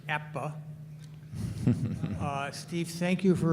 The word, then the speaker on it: APBA: sir uh first of all excuse me it's apba is pronounced APPA uh Steve thank you for rotisserie baseball I've